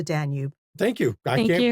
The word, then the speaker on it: Danube: than go down the Danubi River, they went all the way up the Miraul River. Okay, I have to correct you. It is not the Danube. It is the Danube.